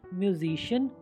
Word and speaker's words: musician: अब C के बाद IA अगर आता है तो C का स्वर श हो जाता है। SOCIAL social. सामाजिक। MUSICIAN म्यूजिशियन संगीतकार।